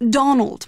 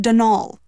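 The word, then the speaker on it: Dónal: Not Donald, mind you. There's no D at the end, so it's pronounced Denal.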